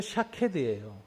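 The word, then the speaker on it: שָׁקֵד: 그래서 이때 하나님이 이제 단어를 쓰셨는데, 살구나무가 히브리어로 샤케드예요, 발음이.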